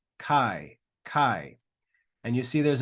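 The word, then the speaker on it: καί: and E together quickly so instead of saying a e we say I I we read them together all right so that next word is Kai Kai Kai and you see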